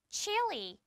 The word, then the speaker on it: Chile: 우리나라는 이것을 칠레라고 읽지만 영어에서는 Chile 이렇게 읽어준답니다. 그래서 여러분들이 칠레를 영어 발음으로는 조금 다르게 읽는구나 라는 것을 기억해주고 simple present, 단순 현재 시제 배울 거고요.